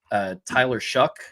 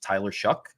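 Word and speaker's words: Tyler Shough: So they got Ja'Cory Brooks from Bama, Tyler Shuck. That's how I learned that's how you pronounce his last name, even though it's Shough. It's Tyler Shuck.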